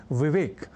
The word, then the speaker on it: विवेक: जैसे कहना और लिखना हो विवेक, तो लोग कह जाया करते हैं विवेक या विवेक।